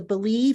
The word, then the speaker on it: BLEAV: joe valerio he is the co-host of the believe and that's spelled b-l-e-a-v uh in chiefs podcast so i